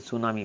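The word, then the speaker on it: tsunami: सुनामी इज़ a series of, हाणे सुनामी जी spell बि यादि करे छॾिणी आहे, TSUNAM आहे, टी हिते साइलेंट आहे, इन खे सुनामी पढ़िबो आहे।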